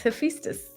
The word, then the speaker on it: Hephaestus: That's exactly how I felt about you pronouncing Hephaestus. I said it wrong. No. Hephaestus. Yeah, oh, he said he's here. It's Hephaestus. Yeah. Oliver's in the house. Because people can't pronounce his name, so they can't feel connected.